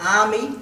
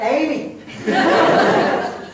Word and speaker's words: Ami: Ami. 3 syllables, ladies and gentlemen.